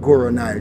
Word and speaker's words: Guru Nile: Guru Nile, G-U-R-U. Okay, there we go. Space, thank you so much. It's a real pleasure. Yeah, I'm like the River Nile, and I'm 4,160 miles.